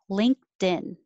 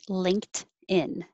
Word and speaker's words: LinkedIn: 18 linkedin it perfectly it might be linked in that's perfect it's fine you can say that but most american english speakers are going to be a little more faster take a little shortcut and say linkedin link the ink your tongue is very high in the back ink but i don't have to release the k perfectly linked linkedin linkedin